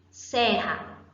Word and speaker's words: serra: RR, serra, dois que equivalem ao som de um.